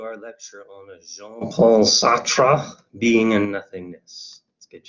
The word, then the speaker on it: Sartre: that's all right um sartre you kind of have to spit a bit when you pronounce french names i'm just not really good at that um americans sometimes just say sart or sart-tre that's fine too i'm not one to